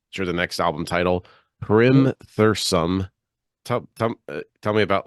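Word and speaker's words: Hrimthursum: the next album title Primm Thome tell tell tell me about like that album yeah it's called Rim Thome Rim turism it's a Icelandic word for frost Giants so you you shouldn't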